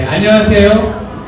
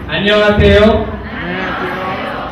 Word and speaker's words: 안녕하세요: Someone, you already know Korean language, but I will do correct pronunciation, okay? Okay, 안녕하세요. Okay, 바로 오기 please. 안녕하세요.